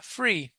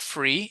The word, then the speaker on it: three: So when you say the number three, it's not free, it's not f, it's not three, it's not a t. It's the th sound.